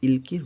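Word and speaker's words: 읽기: উচ্চারণ হবে ইলকির রিডিং এটা কোরিয়ান ভাষার উচ্চারণকে সহজ করার জন্য কোরিয়ানরা এরকম ভাবে উচ্চারণ করে থাকে অনেক উচ্চারণ পাবেন কোরিয়ান ভাষাতে যেগুলার ভাতমের নিয়ম অনুযায়ী উচ্চারণ না হয় একটু ব্যতিক্রমভাবে ওরা উচ্চারণ করে এটা সাধারণত ওরা উচ্চারণকে সহজ করার জন্য এই নিয়মে উচ্চারণ করে এই এখানে উচ্চারণ হবে ইলকি অর্থ রিডিং আমার রিডিং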